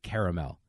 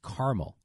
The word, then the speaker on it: caramel: CA ra I say caramel but if you go into Wisconsin or you go into the Midwest its caramel and they just act like that a is not there so I know I'm